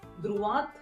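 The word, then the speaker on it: droite: यहाँ पे पूरा प्रोनाउंसिएशन आएगा, द्रुआत। पूरा का पूरा वर्ड आएगा, त का पूरा साउंड आएगा।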